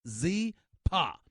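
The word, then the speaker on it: Zyppah: Zepa is pronounced Z-Pa. It's spelled Z-Y-P-P-A-H. It's easy to remember because Zepa is Happy Z spelled backwards.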